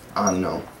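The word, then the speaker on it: hanno: Like you have the word anno, as opposed to anno. Both pronounced exactly the same.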